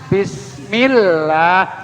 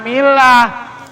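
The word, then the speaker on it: بسم الله: narik bibir bibirnya ditarik bismillah Mila Allah setiap Allah itu ada tasjid hati-hati tuh bismillah jangan Milah Mila mah artinya agama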